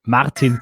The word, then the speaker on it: Martin: for the invitation and thanks for pronouncing my name the Austrian way Martin tell me I'll try